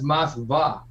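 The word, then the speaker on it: Москва: Actually, in Russian, it's Moskva. Moskva? Oh, well, there you go. Yeah, right. It's Moskva. I think Charlie speaks Russian, or he used to.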